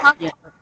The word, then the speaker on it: photographer: You can say photographer. The stress word is at the second syllables. Yeah. Photographer.